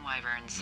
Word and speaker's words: wyvern: Classic wizards and wyverns.